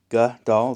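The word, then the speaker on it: גדל: This is Gadal. Hebrew pronunciation, Gadal.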